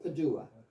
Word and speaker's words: Padua: of St Anthony of padaa and some people pronounce it Padua so I guess it depends if you're Italian or not um the Italians in padaa claim St Anthony as